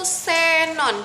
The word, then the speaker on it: Xenon: dan keperluan bidang tertentu huruf x pada awal kata diucapkan seperti S contohnya itu Xenon jadi seperti huruf s dan pada posisi Tengah